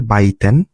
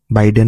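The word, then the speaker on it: 売店: হ্যাঁ, তারপর অনের এক্সাম্পল হচ্ছে বাইতেন, বাইডেন না আবার বাইতেন হচ্ছে ছোট দোকান বা স্টল।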